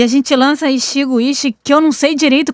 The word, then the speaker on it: Ichigo Ichie: La pronunciación es tal como se escribe. Ichigo Ichie. Repito. Ichigo Ichie.